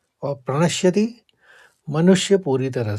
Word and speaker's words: प्रणश्यति: बुद्धि नाशात प्रणसति अणों के ऊपर आघात है तो प्रणश्यति में प्रणस कहेंगे फिर शति कहेंगे बुद्धि नाशात प्रणश्यति अब दो बार और उच्चारण